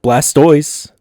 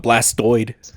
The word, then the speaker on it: Blastoise: that's close it's yeah Blastoise I would have gave you 50 grand for that it's not blast toid he's not a hemorrhoid it's a toy sly